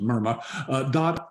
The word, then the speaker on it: MIRMA: You see it's MIRMA, M-R-M-A-A, we pronounce it MIRMA, .org, not com, but .org.